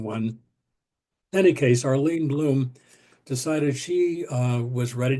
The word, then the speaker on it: Blum: Arlene um Arlene Bloom that's the way she pronounces her last name Bloom it looks like blo but in any case